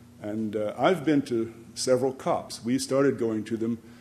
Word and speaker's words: COP: conferences of the party COP pronounced cop the u.s.